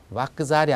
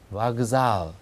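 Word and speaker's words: вокзал: 그래서 거기 제가 적어 놓은 대로 소리는 와크잘이 아니라 와그잘, 그러니까 끄가 그라는 유성으로 이제 변하는 그런 현상이 일어나는 거죠. 유성자음과 무성자음은 여러분들 교재 표에 제가 이제 정리를 해 놓았습니다.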